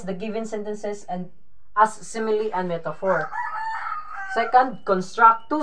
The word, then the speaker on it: simile: you know what is simile or metaphor it is pronounced as simile not smile all right simile and